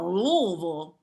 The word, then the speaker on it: Louisville: A Louisville Defender.